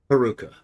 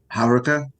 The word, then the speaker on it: Haruka: if you will please heruka for you there is only Darkness I'm saying that wrong tell me again how to say it Haruka Haruka Haruka it's on the beginning Haruka I have to laugh